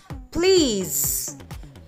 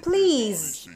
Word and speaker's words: please: Please. EA should be pronounced longer. We can trace it from these symbols. They have the same sound, while S sounds like Z and E becomes silent. Therefore, it please.